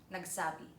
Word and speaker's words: nagsábi: The third example: Said (nagsábi) Spread gossip (ipagsabi) So in nagsábi the stress is on the sá.